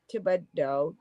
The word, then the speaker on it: Thibodaux: Thibodaux is spelled with an E instead of a A. Yeah. Everything's AUX here at the end. Actually, it's spelled Thibodaux. After the D, it's EAU and no X.